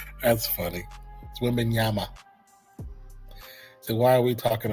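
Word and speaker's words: Wembanyama: So, I believe the correct way to say it is Wem- bin- Wembinyama. That's funny. Wembenyama.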